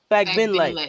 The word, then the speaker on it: Fagbenle: Fagbenle.